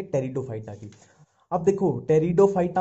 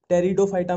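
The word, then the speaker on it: Pteridophyta: टेरिडोफाइटा में इसमें P silent ही चलता है, जहां भी पी आ गया वहां साइलेंट ही चलेगा।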